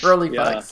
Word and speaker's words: Rolleiflex: if I'm going to pronounce this correctly, a Rolleiflex, or how do you say if that? I'm on a Rolleiflex, Rolleiflex, yeah.